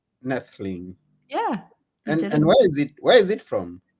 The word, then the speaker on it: Noethling: have said it correctly the O is silent so it's nettleing nestling yeah and where is